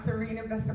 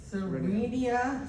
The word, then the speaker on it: Serenia Vista: And then, um, you can go out, you can stay around Serena Vista Park. Am I pronouncing that right? Serenia. Serenia Vista Park.